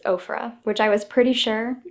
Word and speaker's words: Ofra: having another last video nikkietutorials herself has confirmed that it is ofra which i was pretty